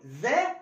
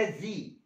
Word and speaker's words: the: the ممكن انطقها بطريقتين، لا اما اقول ذا لا اما ذي. قبل الحروف المتحركة هنطقها ذي ذي، يبقى ذا ايرث ولا ذي ايرث؟ لا ذي ايرث ذي ايرث.